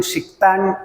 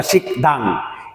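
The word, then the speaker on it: 식당: আপনাদের জ্ঞাতার্থে জানাচ্ছি, যদি এমন শব্দ পান আপনারা শিক উচ্চারণ হওয়ার কথা শিকদাং, গিয়কের পরে যদি দ্বিগুত থাকে তাহলে তার উচ্চারণ হবে সাং দ্বিগুতের মতো, শিকতাং।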